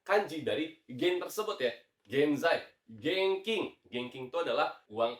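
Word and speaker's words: 現在: Betul, jawabannya adalah genzai ya, genzai.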